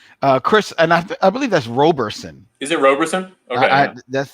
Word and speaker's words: Roberson: Chris, and I believe that's Roberson. Is it Roberson? Okay, that's the way I would have always pronounced that.